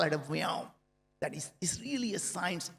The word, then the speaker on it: Viome: I started a company called Viome. That's V as in Victor, I-O-M-E. And someday I'm going to tell you a secret. Indians cannot pronounce the word we.